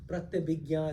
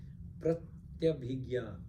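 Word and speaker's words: Pratyabhijna: Pratyabhigya is another name. Pratyabhigya. How do you spell that?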